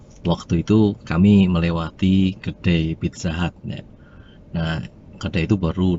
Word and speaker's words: Pizza Hut: Itu yang benar bacanya Pizza Hut. Loh, tapi saya tetap ngeyel karena tulisan di sana itu tulisannya Pizzahut. Hut bukan HAT gitu.